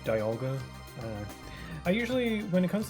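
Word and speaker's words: Dialga: sense to me because it's like diamond. You don't say demon, say diamond. So, it just makes sense that it be pronounced Dolga.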